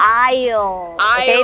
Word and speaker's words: aisle: seat oh very close aisle the S is silent okay good try a